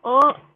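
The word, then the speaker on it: を: selanjutnya adalah partikel W partikel W atau bacanya O bisa baca wo atau o tapi umumnya orang itu bacanya o wupunanya wo Nah itu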